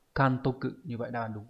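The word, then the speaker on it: 監督: Thì chữ này sẽ đọc là Kantoku.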